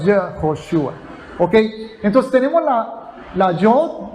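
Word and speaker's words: יְהוֹשֻׁעַ: Y el Shva es un símbolo gramatical que indica que se pronuncia Y, o sea, Yehoshua. Yehoshua. No Ye, sino Yehoshua.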